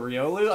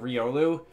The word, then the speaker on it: Riolu: the internet it seems about whether this thing should be called Riu or Riolu I'm pretty sure the Pokedex 3D which I'm generally considered to be be like Canon as far as pronunciation on Pokémon goes um I'm pretty sure the Pokédex 3D software on the 3DS calls it Riolu uh but I call